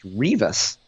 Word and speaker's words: Rivas: We will picture Rebecca sitting down with some South County Hoosiers off Rivas Barracks Road, smoking some ditchweed, and that way we'll remember that Rebecca's last name is pronounced Rivas.